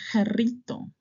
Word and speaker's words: Jarrito: J the name José Juan or the brand Jarrito. Jrito. I don't know if you have heard about this brand. popular a Mexican brand. So you see it, it's not you know it's notrito. Jarrito.